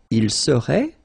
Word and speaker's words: serait: Il serait, final T not pronounced.